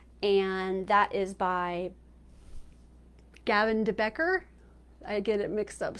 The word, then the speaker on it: de Becker: Gift of fear and that is by Gavin debecker I get it mixed up sometimes I said